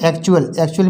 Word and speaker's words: actual: इसी तरह से एक्चुअल, इसमें देखिए ACTUAL, इसमें UAL आया है, एक्चुअल, इसे बोलेंगे एक्चुअल मीन्स असल या असली।